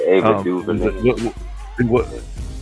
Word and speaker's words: Ava DuVernay: As a matter of fact, Ava DuVernay, am I pronouncing her name right? That's what I was gonna say. Yeah, Ava DuVernay.